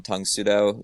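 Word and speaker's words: Tang Soo Do: Just for a little bit of background on Tung Sudo, it's just the Korean pronunciation of Karate Do.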